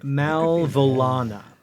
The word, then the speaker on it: Malvolana: Let me let me I'll spell it for you um I think should we find uh okay malvolana m-a-l-v-o-l-a-n-a Mal vole on I was missing a whole syllable I think yeah me